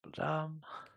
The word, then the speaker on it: Blum: everywhere play text equals Blum that's how you pronounce that Blum all right we about